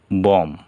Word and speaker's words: bomb: এ জায়গায় আছে BOMB, বম, বোমা, কিন্তু এইখানে বি উচ্চারণ হলো না।